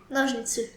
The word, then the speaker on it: ножницы: Ножницы. Ножницы. Ножницы. Nojniczny.